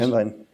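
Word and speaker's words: Helnwein: um Gottfried Heinwell, or I'm pronouncing his name wrong probably, but you know him. How did he fit into Yeah, that? Hemlein.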